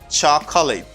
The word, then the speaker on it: chocolate: And for this word, people mispronounce it very often. Say chocolate. Chocolate. Chocolate. Okay. You don't pronounce this syllable, chaka.